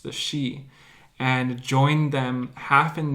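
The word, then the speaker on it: sídhe: this the she it's written today but it's pronounced the she and joined them half in this world and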